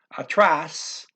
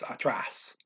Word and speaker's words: atrás: Atrás, that is after. There's an accent mark on the A here, forcing you to say the last syllable loud, atrás.